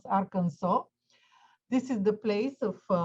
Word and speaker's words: Arkansas: i will start again the pronunciation of arkansas is very strange is is arkansas but we pronounce arkansas this is the place